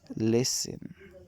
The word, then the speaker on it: listen: in the english language yet in the middle of silent listen it disappears instead the t becomes a little like another slightly shorter s listen becomes listen whistle is whistle here's a